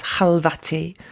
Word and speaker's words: Khalvati: It's a poem that's about your father and it's interesting that in your reading you you pronounce your own surname as Halvati which is I'm guessing the Persian pronunciation.